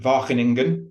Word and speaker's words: Wageningen: Roy van Beek, who's from Wageningen. I'm going to try and pronounce that correctly, Roy.